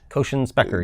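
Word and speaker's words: Kochen–Specker: And so I'm going to pronounce this wrong, but so the second no-go theorem that you mentioned was the Cauchy-Spekker? Cauchy-Spekker, yes.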